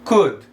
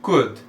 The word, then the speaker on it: could: Então, could, como se tivesse só um U ali no meio.